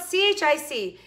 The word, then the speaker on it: chic: chic which is spelled c-h-i-c and it always seems really i always want to say check but it's not chick it's shabby chic french i guess i don't